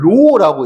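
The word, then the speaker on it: ρ: 요게 고등학교 때 너네가 만나게 되는 총 끝 마무리인 거거든요.요 기다랗게 생긴요 친구가이 친구를 우리는 읽을 때는 로라고 읽어 이제이 글쓰긴 하는데이 친구를 비항이라고 이야기를 할 거고요.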